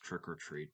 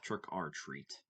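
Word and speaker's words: Trick 'r Treat: Hellraiser, Trick Our Treat, I know it's pronounced Trick or Treat, but it's got an R and a letter R and apostrophe in it. So, I like to call it trick R treat.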